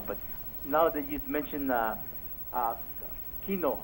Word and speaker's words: quinoa: And I tried all different kinds of flour, but now that you've mentioned quinoa, how you pronounce that word again?